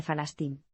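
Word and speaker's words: فلسطين: tradicional de la región los Editores optaron por la pronunciación local en árabe palestino de falastin el periódico se convirtió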